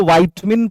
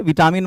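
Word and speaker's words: vitamin: ए एम आई एन इसको वाइट मिन पढ़ते हैं विटामिन मत पढ़ना लेकिन अभी मैं प्रोनंसिएशन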